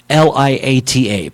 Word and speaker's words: Tagliata: I'm going to spell it for you. Tagliata. Tagliata, but pronounce it Tagliata.